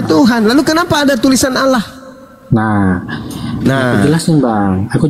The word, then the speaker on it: Allah: Nah, berarti alef lamet dibacanya Allah, A-L-L-A bang, gitu loh.